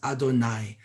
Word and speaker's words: Adonai: lines side by side you have to pronounce it as adonai adonai of course is the